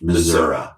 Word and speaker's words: Missouri: Now, it's actually pronounced Missouri. Now, so he was charged with for making a terrorist threat by licking deodorants.